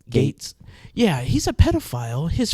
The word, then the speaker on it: Gaetz: Gaetz.